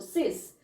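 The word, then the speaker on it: sept: सिक्स वाला ही है लेकिन सिस बोलते इसको सिस नेक्स्ट है से एस ई प टी से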